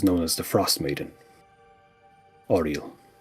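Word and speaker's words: Auril: And she is known as the frost maiden, Oral.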